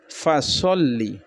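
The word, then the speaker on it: فصلّ: তারপর হচ্ছে ফাসল্লি, কেউ সাল্লি বলবেন না, সল্লি পড়বেন। ফাসল্লি লি রব্বিকা ওয়ানহার।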